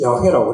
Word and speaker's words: 야훼: 그리고 히브리로 하니까 야훼가 되는데, 그 영어로 하면은 야훼를 표현할 때 YHWH라고 써요. YHWH, 야훼라고 그랬어요. 히브리 그 알파벳 단어를 영어로 표현하면 YHWH. 그냥 그 읽을 때 야훼라고 읽습니다.